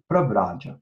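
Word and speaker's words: Pravrajya: Pravraja. There should be a long A over here.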